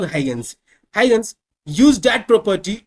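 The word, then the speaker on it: Huygens: ये स्पेलिंग क्या है? तो एच यू वाई जी ई एन एस। इसको पढ़ेंगे हम लोग हगंस।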